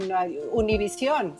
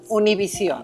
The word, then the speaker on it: Univision: This one, Univision. Univision, yeah, see when you said it that way. Uno, like number one. Uno. Univision. Univision.